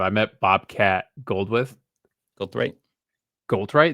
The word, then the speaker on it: Goldthwait: Goldthwait, is that how you say it? Thwait, yeah, Goldthwait.